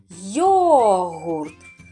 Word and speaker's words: йогурт: Йогурт. Так, два склади. Наголос на який склад падає? Йогурт. Так, на перший склад, на голосну О.